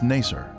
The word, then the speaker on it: Nasir: Its former name in the 19th century was Nasir. This pronunciation is similar to Nicer, a village that the Babylonian Berossus described as being near the Ark site.